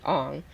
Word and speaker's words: Aang: Um, but he wanted it to be for the Japanese pronunciation of Aang would be Ong.